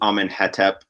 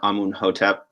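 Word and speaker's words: Amenhotep: So for example, the Coptic word for to rest is hotep. And then in hieroglyphs, we just have like HTP, and we pronounce it hetep, just for convenience. So you'll often see names like you'll see Amenhetep or Amunhotep, and one is kind of taking the Coptic pronunciation, and the other one is just filling in all the missing vowels with an sound.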